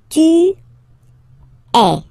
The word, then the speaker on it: es: And for tu, then you've got this combination of letters, okay? But then, basically, the sound you will pronounce, or you will produce, is e, okay?